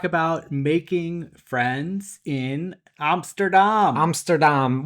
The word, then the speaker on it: Amsterdam: which is how you pronounce it in our Dutch class. Yeah, my Dutch teacher corrects me every single time because I say Amsterdam. She says, let's say it a little bit more Dutch.